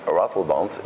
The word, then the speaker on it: Ratelband: You make really, it's so difficult, I know, for people to pronounce my name because my name is French, Emile, and Ratelband is like a real Dutch.